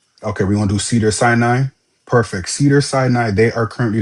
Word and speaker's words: Cedars-Sinai: Yes, Cedars-Sinai, they are looking for a staff scheduler.